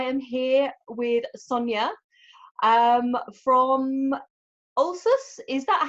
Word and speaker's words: Ölsüss: and today I am here with Sonya from Alsace is that how you pronounce the name of your brand Sonya yes